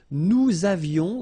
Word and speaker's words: Nous avions: Nous avions, let's make this beautiful liaison here.